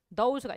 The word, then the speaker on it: those: 그 다음에 that, those가 있어요. that의 복수형이 those거든. 그러니까 복수형은 다 z 발음 되는 거야.